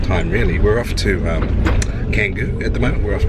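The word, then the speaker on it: Canggu: We're off to Canngu at the moment. We're off to our Canngu. We've just learned how to pronounce it finally.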